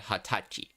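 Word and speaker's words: 二十歳: saying it as your age it is not pronounced n but Hatachi seeing how that's only one year and not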